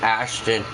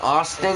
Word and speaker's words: Ashton: and by the way it's not austin it's ash 10 t-o and ash ton like you hash and then you turn it like a ton like a ton you